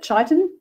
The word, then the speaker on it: chitin: Good source of chitin, I think is how you pronounce it, chitin, and lots of vitamins and minerals in these as well.